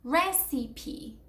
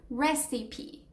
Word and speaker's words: recipe: It is recipe. Okay, so it's interesting. You do pronounce the P and the E towards the end as a full syllable, so recipe.